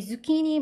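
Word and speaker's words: zucchini: 니 니라는 단어를 써요 키니 발음 잘 하셔야 되고 C CH 키키이 발음나요 같지만 키 발음 나고 끝에 ni 니 해서 키니 해 주시면 됩니다 키니 애호박이 저희 다른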